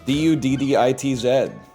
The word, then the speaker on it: Dudditz: It's spelled like it sounds, bro. D-U-D-D-I-T-Z. Dudditz. It's that simple.